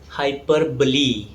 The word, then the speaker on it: hyperbole: The correct pronunciation is hyperbole. In mathematics, there is another similar sounding term. It's called hyperbola and it ends with the letter A. It's pronounced as hyperbola. It's a kind of curve, but in literature, it's called hyperbole. It ends with the letter E.